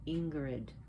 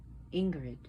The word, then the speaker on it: Ingrid: If you can't roll your R's, that's fine. You know, it doesn't come easy, especially when you don't speak a language where you do not roll your R's. It takes time to learn.